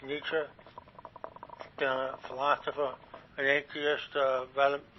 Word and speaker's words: Nietzsche: And fucking Nietzsche, pronounced Nietzsche, the philosopher, an atheist, rather crazy, but apparently quite intellectual.